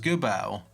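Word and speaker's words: Geubbels: I think his name is pronounced Gubel.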